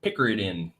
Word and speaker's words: picaridin: Picaridin.